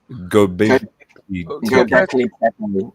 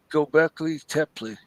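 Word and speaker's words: Göbekli Tepe: Puck has direct descendants of Gobekli Tepe is how you pronounce it. Gobekli Tepe.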